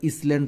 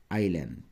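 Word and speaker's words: island: হানি এটা কি আইল্যান্ড তোমরা এটাকে আবার ইসল্যান্ড পড়িও না উচ্চারণটা হচ্ছে আইল্যান্ড এল এন D maximum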